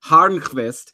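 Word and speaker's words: Hörnqvist: by the way Patrick Horace is back also I didn't pronounce his name right it's actually Patrick harvest I learned from some Swedish friends yesterday who I met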